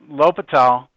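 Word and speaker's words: L'Hôpital: Now, L'Hopital's rule, it's pronounced L'Hopital, but it's spelled like La Hospital.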